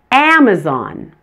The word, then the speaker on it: Amazon: family understand perhaps practice the first a in Amazon and the first day